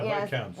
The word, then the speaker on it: Viscounts: So Shem is saying the S in Viscount is silent. So Viscounts. you can't say it like that.